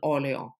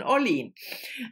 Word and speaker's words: Orlean: realized uh yesterday that i have been pronouncing her name wrong for at least 10 years because i always said susan ollion there you go but it's susan orlean susan orlean is um